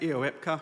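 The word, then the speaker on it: EOEPCA: can help with the acronym so uh we pronounce it eepa which is uh EO exploitation platform common architecture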